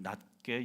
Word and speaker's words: 낮게: 두 번째로, 자기보다 남을 낮게 여겨야 합니다. 발음을 잘해야 돼요. 시옷 받침으로 읽어야 됩니다. 지읒으로 읽으면 안 돼요.